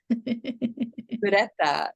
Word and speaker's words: Ureta: Ureta.